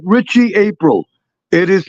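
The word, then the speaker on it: Aprile: It is not April. It is not the month of April. It is Richie April. I that is the correct pronunciation.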